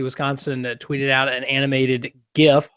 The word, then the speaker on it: GIF: Scott Bachmeyer from the University of Wisconsin tweeted out an animated GIF, hard G with that GIF of the visible imagery